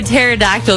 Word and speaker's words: pterodactyl: can't you hear a pterodactyl going to the bathroom why can't you hear a pterodactyl going to the bathroom oh no I did because it has a silent P oh P got you